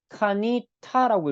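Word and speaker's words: קָנִיתָ: 그 전통 중에 하나인 읽는 전통 케레에서는요 이걸 카니타라고 읽습니다 즉 2인칭으로 바꾼다는 이야기죠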